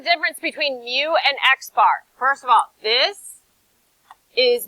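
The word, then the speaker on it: x̄: So this is pronounced x bar. Right? X with a bar on the top.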